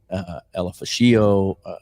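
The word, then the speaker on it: Ulofoshio: I was watching some combine stuff again the other day, and they put a little more emphasis on the last part of the name. It was more Elafashio, that kind of thing.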